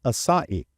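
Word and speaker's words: açaí: or the uh aai Berry no it is pronounced asaii oh I shouldn't know this CH it's not the aai berry it's the a b that's a good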